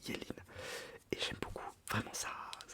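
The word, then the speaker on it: Yeleen: Y, pardon, Y-E-L-E-E-N. Ça se dit Yéline.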